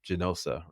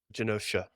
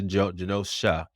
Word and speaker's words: Genosha: Morrison's run of X-Men about the island of Genosa. Is it how you pronounce Genosa? Is that how you pronounce it? Genosha. Yeah. Genosha.